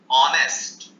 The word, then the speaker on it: honest: Our, honour, air, एयरएस, ऑनेस्ट, HONEST, ऑनेस्ट भी आप लिख लें, HONEST। तो ये स्पेलिंग एच से शुरू हो रही है, लेकिन इनका प्रोनाउंसिएशन वाउल साउंड से शुरू होता है।